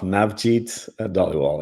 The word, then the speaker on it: Navjit Dhaliwal: Navjit Dhaliwal. Did I pronounce that correctly? and it's close enough. Navjit Dhaliwal, yeah. Navjit Dhaliwal, thank you so much for joining us from Iagon.